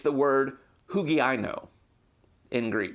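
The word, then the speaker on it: ὑγιαίνω: It's the word hugiaino in Greek. That's a funny way of saying it, but that's how they pronounce it in Greek, hugiaino.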